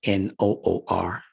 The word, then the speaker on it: Noor: you are instead of n-o-o-r but for purposes of pronunciation we say Noor and write it like